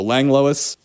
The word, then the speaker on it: Langlois: how you pronounce it it's lang and l-o-i-s so lange lois as elizabeth johnson so